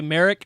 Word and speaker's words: Merrick: Hey, I will say Merrick rhymes with Garrick, so I'm a fan.